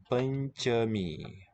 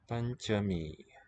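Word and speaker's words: पञ्चमी: Panchami. So ncha gets a ligature. Combined writing. Panchami. We'll do palatal nya. Kill the vowel. Cha, voiceless. Panchami.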